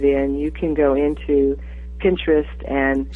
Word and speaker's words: Pinterest: you can go into Pinterest and say that again spell that I don't never heard that p i it's interest with a p at the beginning oh I see okay